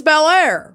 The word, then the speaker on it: Belleair: It's Bel Air, Florida. How embarrassing, by the way. Bel Air, Florida. Y'all get it together. It's spelled dumb, too. It's BELLEAIR, but one word.